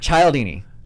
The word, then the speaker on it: Cialdini: Is it Cialdini? Yeah. Okay. I finally know how to pronounce it. Thank you. I always have to be like, I don't know how to pronounce it. Cialdini.